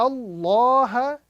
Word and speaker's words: Allah: Inna Allah is the correct pronunciation with a round sound.